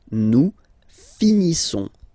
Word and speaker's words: finissons: Nous finissons. Finissons. Okay, final S not pronounced.